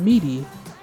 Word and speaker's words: Midi: suit the ssr suit it is known as meaty it's spelled f-i-e-r-t-e-m-i-d-i this is a suit for lobelia